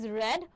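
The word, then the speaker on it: read: Past participle form কিন্তু spelling same থাকলেও pronunciation different, which is রেড বলা হয়, রাইট?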